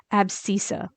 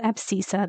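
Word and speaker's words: abscissa: i SS a that's for x and it's pronounced abisa and then the Y is a little bit easier that's called ordinant but this one's called abisa this one's called ordinant so if someone just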